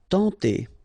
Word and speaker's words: tenter: Tenter. Okay, remember when you get this N together, you get the nasal sound en, tenter.